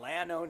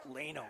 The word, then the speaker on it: Leno: You've got Leno, excuse me. Leno. I'm going to throw phonetically a Y spell that. Put a little line over the A for yourself. I'm going to throw a Y. Leno.